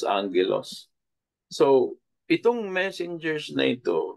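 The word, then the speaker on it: ἄγγελος: sping po is agilos but it is pronounced as Angelos so itong Messengers na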